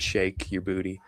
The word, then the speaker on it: Sheik Yerbouti: So he he he does pronounce it shake your booty.